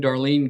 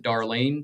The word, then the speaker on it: Darline: It is spelled D- A R L I N E. Everybody that we've heard has pronounced it Darlene, so that's what we're going to go with.